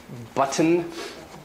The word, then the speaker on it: button: great for practice likewise t before n in an unstressed edible like you know button like a shirt button becomes button in especially in american english and a lot of other types of english button becomes button it's kind of either released through the nose or kind of swallowed or becomes kind of like an n and in some british